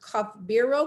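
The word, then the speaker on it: Kothbiro: is singing uh yeah i think believe it is pronounced cup bureau k-o-t-h-b-i-r-o i put it there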